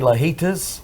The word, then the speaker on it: Lajitas: really enjoyed it played lajitas i did number one golf course in texas it is a it's amazing course man i love any course that rhymes with fajitas oh yes fajitas but